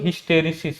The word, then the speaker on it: hysteresis: अब आगे बढ़ते हैं हम लोग, हिस्टेरिसिस पढ़ते हैं। क्या हमारा टॉपिक रहेगा, हिस्टेरिसिस, स्पेलिंग क्या है, HYSTERESIS।